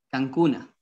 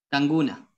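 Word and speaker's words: kankuna: Cancuna. Cancuna se escribe, ¿y cómo se pronunciaba? Canguna. Canguna, eso.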